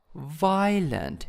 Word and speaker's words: violent: confusing next one is violent violent in the first syllables and then shocking shocking